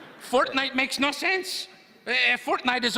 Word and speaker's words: Fortnite: That's a fork knife reference. Fork knife? Did you say fork knife? It's actually pronounced Fortnite.